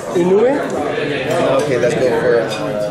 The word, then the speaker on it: Inoue: Is that how you pronounce his name? Inoue.